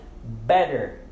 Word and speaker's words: better: Nós pronunciamos o D ali, porque ele está entre 2 Z's. Então, better, better.